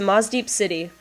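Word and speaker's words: Mossdeep City: I guess the way it's spelled, it's Mosdeep City, but like when I say it quickly, I end up saying it with a harder S sound, more like the Z sound, so it sounds like Mosdeep.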